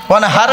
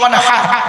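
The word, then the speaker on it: وانحر: High হুতি ওয়ানহার নয়, high হাওয়াজ নয়, high হুতি। এই গলার ভেতর থেকে এটা উচ্চারণ করবেন, ফাসাল্লি লিরাব্বিকা ওয়ানহার।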